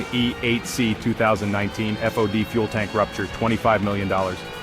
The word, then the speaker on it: FOD: foreign object debris fod pronounced like pod the Nemesis of Hardware design